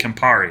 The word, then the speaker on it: Campari: Campari.